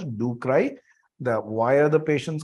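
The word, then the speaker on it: ducreyi: patients do cry dukry we will pronounce it as ducry the why are the patients crying because it is painful.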